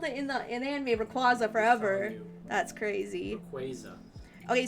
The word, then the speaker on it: Rayquaza: So the Pokemon Company officially announced what the correct way to pronounce this Pokemon's name is. How do you pronounce this Pokemon? Rayquaza? Or is it Rayquaza? They say it's Rayquaza? It's Rayquaza. Oh my god. Ain't no way. Official. It's official.